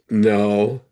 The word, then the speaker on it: know: Then no, throw, blow, show. You notice that that word no k n o w has the same sound as the the word no has no.